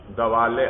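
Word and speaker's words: دوالّ: دوال اربعا، دوال لام مشدد ہے بھائی، لام مشدد ہے دوال.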